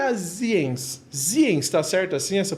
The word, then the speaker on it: Zienz: Ziens, tá certo assim essa pronúncia?